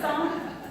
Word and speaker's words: Psalm: big chunk of it, is a book called Psalm. Yes, it is spelled weird. It's hard to pronounce. Good job for the 6-year-old. So it's Psalm, and just another way, it's another word for song.